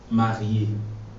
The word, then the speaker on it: marié: And marié is spelled M-A-R-I-E. Accent aigu. Okay, I know you don't know what accent aigu means yet, but marié is spelled M-A-R-I-E. With an accent on it. And when this accent is on the E, it makes it sound A.